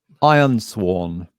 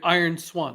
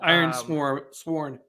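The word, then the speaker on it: Ironsworn: that game again Paul iron sworn iron iron Swan okay cool sworn swarm swor like to swear an oath I mispronounce it iron SW sworn got it yeah let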